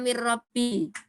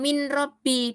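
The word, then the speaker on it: مِنْ رَبِّي: Begitu juga mir rabbi. Nah, Cara bacanya ini bukan min robbi. Dari mana taunya? Ini roknya ada tasdidnya.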